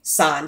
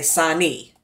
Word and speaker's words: San: um then it's obviously you can't say sign so they say Sani so you get two syllables yeah and then the